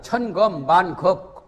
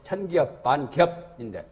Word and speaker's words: 천겹 만겹: 천겹 만겹인데 천겁 만겁 백천만겁 난조우란 그 겁자로 잘못 발음하잖아요. 이거는 겹입니다. 겹. 겹겹으로 열두 번을 단으로 하고 복으로 해야만 비로소 묘각을 다하여 무상도를 이루게 되는 이라.